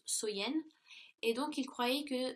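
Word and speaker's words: Samhain: nuit de l'année donc était samen donc qui est prononcé qui se prononce soyen et donc il croyait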